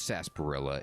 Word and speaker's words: Sarsaparilla: okay so it is sarsaparilla it's just again you just don't pronounce the r it's a silent r what you doing here